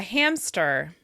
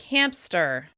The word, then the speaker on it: hamster: For example, this cute little critter is a hamster. Many people insert the /p/ sound into the word so that it actually sounds like "hampster."